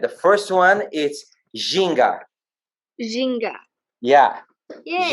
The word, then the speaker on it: ginga: Ginga. Yeah. Yay. Ginga is the movement.